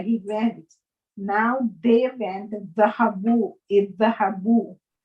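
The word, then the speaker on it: ذهبوا: Now they went, dhahabu, idhahabu. Note that there is an alif at the end of the word which is not pronounced.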